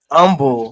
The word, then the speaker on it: Humble: That was in Texas, and there was a city called Humble. Humble. Spelled the same way.